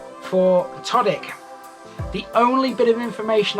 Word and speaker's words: Todwick: I can now conclusively tell you it is pronounced Todwick, so from now on I will refer to it as Todwick.